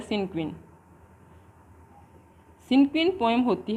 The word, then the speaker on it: cinquain: सिनक्वीन, इसका प्रोनाउंसिएशन होता है सिनक्वीन।